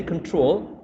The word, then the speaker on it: control: Yes, and when you say control, you actually are stressing the second syllable and not the first one.